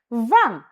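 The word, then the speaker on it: vingt: Says says decept this sets this sets this with this with this with this nef this van the t in van is silent van van van not vm not vm Mm.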